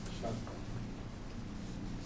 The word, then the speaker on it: Shaktam: You can spell it either way. And the religion Shakti worship is called Shaktam. S-H-A-K-T-H-A-M or S-H-A-T-H-A-M. Shaktam.